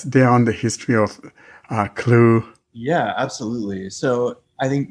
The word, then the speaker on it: Clew: and we're talking about an app called the clue c-l-e-w um is that the right pronunciation of the app poll yes yeah absolutely